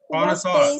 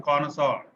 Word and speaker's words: connoisseur: The branch of science which deals with Connoisseur. Physical universe. See, listen to the pronunciation. This is a French word. It is pronounced connoisseur.